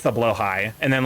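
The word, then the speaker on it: Blåhaj: Blahigh glass shark spelled like blah but pronounced as Yeah, it's blowh high. Blowhai.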